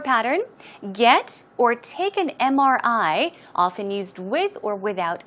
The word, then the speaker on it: MRI: Now also, notice, MRI, it starts with a consonant, right? But the M, when you pronounce the M, you pronounce it as M. It starts with a vowel sound, and that's why it